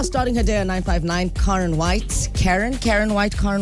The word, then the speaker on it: Karyn: But what's the what's the what's the actual pronunciation? they say Karen. Karen. In the US they say Karen.